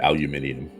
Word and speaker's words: aluminium: And you know Irene would pronounce it aluminium.